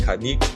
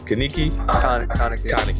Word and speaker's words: Kaneki: There was we said Kaniki. Kaneki.